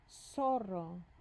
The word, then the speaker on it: zorro: The word is zorro. Zorro. The letter Z sounds like the letter S in Spanish.